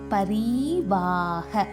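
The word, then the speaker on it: परिवाह: பரிவாக. பா பாக்கு மேலே நம்பர் இல்லை, ஸோ பா பழம்க்கு வர பா. பரிவாக.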